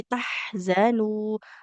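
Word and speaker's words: تَحْزَنُوا: oke, sama tadi tahzanu huruf zainya ya, Dan jangan seperti huruf jim.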